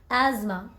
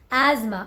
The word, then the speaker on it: asthma: in English there is just one way to pronounce this word and that is asthma asthma this one admirable right admirable completely you are